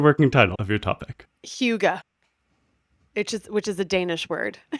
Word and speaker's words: Hygge: Yeah, it's Hygge, which does not look like you would pronounce it Hygge, but according to the internet, it's pronounced Hygge.